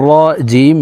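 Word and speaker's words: رجيم: জি মিম জের মিজিমি প্রিয় দর্শক এখানে দেখুন মদের হরফের বামের হরফে ওয়াকফু হইলে মধ্যে আরজি তিন আলিফটা নিয়ে পড়িতে হয় তো আমরা এই জিমকে তিন আলিফ টেনে মিমকে সাকিন করতে হবে তো দেখুন শব্দটি এইভাবে পড়বো রজিম রাজিম মিনাশ শাইতানির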